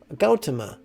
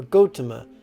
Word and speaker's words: Gautama: becoming a humble monk known as gautama or gotama depending on your pronunciation it varies so gautama the monk